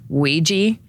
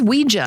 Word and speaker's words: Ouija: Is it Ouiji or Ouija? Well, I feel like the pronunciation is Ouiji, right? We But it is Ouija.